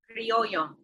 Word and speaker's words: criollo: She was, pronounce it for me, Criollo? Criollo.